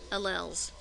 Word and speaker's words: allele: starts with an a alleles or allele you'll hear it pronounced both ways number 10 karyotype